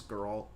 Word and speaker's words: Geralt: Is it Geralt? Yeah, it's Geralt. I've been saying it wrong this whole time.